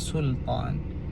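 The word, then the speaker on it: سلطان: kata banyak jugalah kataan sultan. Kesilapan yang biasa dibuat adalah kebanyakannya suka menebalkan huruf lam. Sebab apa tebal? Biasanya sebab terikutlah dengan huruf tebal selepasnya.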